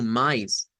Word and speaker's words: mais: Entonces llevamos más que decimos, mire, mejor lo vamos a pronunciar como mais.